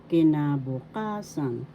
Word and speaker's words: kinabukasan: fifth syllable sun kinabukasan the fourth syllable has the accent so you pronoun kinabukasan that means future example